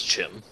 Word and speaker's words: Chim: If we ask ESO, it's Chim because Chim like Chimera. It doesn't really matter how. It honestly doesn't matter. I pronounce it with a hard K sound.